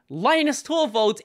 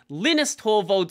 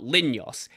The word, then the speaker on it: Linus Torvalds: I say lioness torvald Linus torvolt is correct Linus torvald is correct Linus Torvalds is correct it doesn't matter stop go away but with that being said it's probably still not linyos and once again Linux